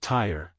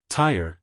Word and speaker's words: Tyre: Tyre, you notice, 2 syllables to rhyme with deny her in line 3.